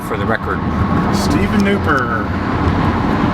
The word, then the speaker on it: Kneuper: Stephen Kneuper. And a silent K on that name. Silent K? Yeah, if you were German out of New Braunfels, it'd be Kneuper.